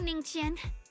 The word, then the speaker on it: Ningqian: Thank you, Ningqian.